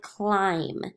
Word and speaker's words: climb: silent letters in there words like climb we don't hear that B when we when we read it so you're gonna